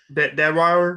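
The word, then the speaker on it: Deadwyler: Deadweiler.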